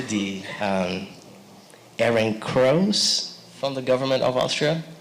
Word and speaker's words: Ehrenkreuz: Her honors include the Guggenheim Fellowship, the University of Ghent Sarton Chair, the, correct me if I pronounce this correctly, the Ehrenkreuz from the government of Austria? Ehrenkreuz.